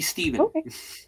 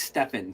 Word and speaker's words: Stephen: way it's spelled, nobody calls me Stephen because I have because I have a PH in my name. It's always Stefan.